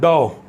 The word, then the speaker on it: dough: not suit it's sweet then we have dough thou is atta right it's dao nothing else so we have learned